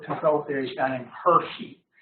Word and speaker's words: Hirschi: theory is guy named Hershey H iir CH sounds like chocolate bar but you spell it different Hershey Hershey had asked